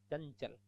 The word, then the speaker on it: चंचल: अनुस्वार के बाद च है तो अनुस्वार च के पांचवें में बदल जाएगा, ञ में, चंचल।